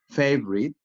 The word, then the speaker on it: favorite: often so you can have the habit to pronounce them in that way. Okay, let's practice again. Comfortable, different, family, favorite, interesting, miserable, separate.